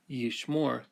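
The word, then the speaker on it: יִשְׁמֹר: the word by itself yeeshmore he will keep the accent falls on the last syllable and we use a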